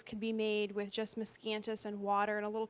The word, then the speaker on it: Miscanthus: So this miscanthus, did I say it right?